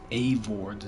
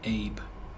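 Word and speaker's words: Eivor: And I've been mispronouncing Avor's name. It's not Abe. It's Avor. A-V. Not A-B. Not Abe.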